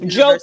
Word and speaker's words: Diop: Jope. Jope University.